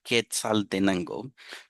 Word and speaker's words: Quetzaltenango: I would like to hear you guys try to say that, pronounce it. Even Spanish speakers have trouble saying the name. It is called Quetzaltenango.